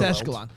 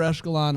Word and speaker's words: echelon: two of the year your commitment to saying the word echelon and not knowing how to say it is unpaid it's eschalon uh this isn't this is